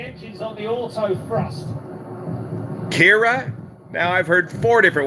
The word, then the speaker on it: Ciara: is a firm touchdown kira yeah it's kira i'm from ireland that's the way we say it did i say it